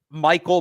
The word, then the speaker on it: Mikail: I can't think of his name right now, but he's probably their top Michael, but it's spelled Mikail, or might be Mikhail Kamara.